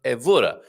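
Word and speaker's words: Évora: And yes, Carl, second to last syllable stressed, unless an accent mark. So, evora.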